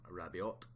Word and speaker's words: Rabiot: I was pronouncing him Rabiot. It's a silent T.